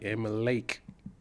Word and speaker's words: Amalek: Emma Lake.